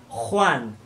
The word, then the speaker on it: Juan: Quant au J, GE et GI, ils se prononcent en raclant le fond de la gorge. Pájaro, vous devez sentir vibrer votre gorge. Juan, geografía, gigante.